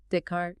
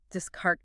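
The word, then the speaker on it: Descartes: learned Renee Deart pronouncing it in her head with an English accent like discart is probably sounding out that silent e and ez. She never connected the written form to the correct French sound dart.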